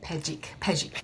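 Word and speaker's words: Pepejic: Britt P Riven dots but it's Britt pic pic it's a great name p e p e j i c so you were and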